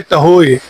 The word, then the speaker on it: Tahoe: है मतलब मैकबुक का, उसका नाम है टहोए। ठीक है, टहोए भी कह सकते हैं और टहो भी है, TAHOE। तो वो जिस तरह की प्रोनाउंसिएशन आप करना चाहें वो कर सकते हैं।